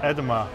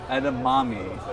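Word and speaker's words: edamame: what's a web edma edma Ed edamami oh yeah edma no edamami is what it says hi basil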